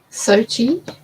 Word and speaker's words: Sochi: Sochi? That's how they pronounced it for the Olympics. That seems like that's probably correct then. You'd hope they got that right anyway.